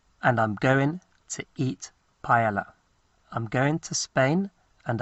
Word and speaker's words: paella: And they pronounce it paella because a double L is a y sound.